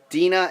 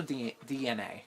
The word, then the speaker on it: DeNA: Dina and Pokemon Company to bring a mobile game by March 2020. Yep, that's it. It's also DNA is the pronunciation. I know it says Dina, but it's DNA.